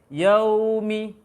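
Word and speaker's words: يَوْمِ: Lamanya monyong untuk waw sukun ini, yang fathah sebelumnya, dia lama. Selama durasi pengucapan ada sifat waw nanti namanya sifat rakhawah, mengalirkan suara. Maka bacanya selama mengalirkan suara tersebut bibir monyong.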